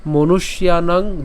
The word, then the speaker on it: মনুষ্যানাং: শ্লোকটি তাইলে আমি আবার বলছি উৎসন্ন কুল ধর্মানাং মনুষ্যানাং জনার্দন নরকে নিয়তং বাস ভবতিত্তিশ্রম অনুবাদ হে জনার্দন